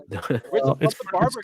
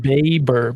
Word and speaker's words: Baber: i thought it was barber technically pronounced baber b-a-b-e-r baber and sasha but it's